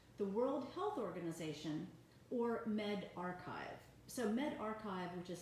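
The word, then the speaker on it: medRxiv: is more accurate the World Health Organization or Med archive so men archive which is spelled med ahrefs IV those are the preprints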